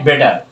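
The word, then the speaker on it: better: মজার খেলা হলো number 8, হ্যাড বেটার। হ্যাড বেটার বলবো না আমরা, অনেকে বাঙালি বলে কি, বেটার বলে, বেটার উচ্চারণ হবে না বেটার, টি এর উচ্চারণ হবে ডি।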